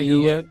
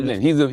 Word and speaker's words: Nguyen: It's a Vietnamese name. Nguyen. By the way, the second name I've never heard it in my life. But go ahead. Win is the closest, yeah. George Nguyen.